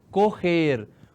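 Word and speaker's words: coger: Correr. O G com E tem esse som. Correr. Parece som de RR, né?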